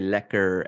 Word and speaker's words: lekker: okay the pronounce ER is is Dutch so the the people from the Netherlands say lekker and then actually her